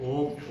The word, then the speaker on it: ओम: अ का उच्चारण लघु काल तक और ऊ का उच्चारण दीर्घ काल तक और म का उच्चारण करना ही नहीं होता। होठ बंद होने के बाद स्वतः एक ध्वनि आपके नासा से निकलती है।